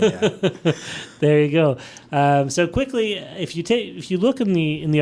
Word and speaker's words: Quikkly: It's called Quikkly. Yeah. Spelled with 2 Ks. You dragged the K out.